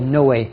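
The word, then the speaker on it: Noé: wonderfully exciting it's called no way just when you see Noe it's quite hard to know how do you pronounce it it's it's called no way from Gonzalez bias and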